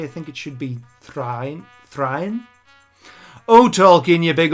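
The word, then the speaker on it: Thráin: sheets as og kills three or is it thrine i mean i do i do like saying dane and train but technically i think it should be thrine thrine oh tolkien you big old linguist yeah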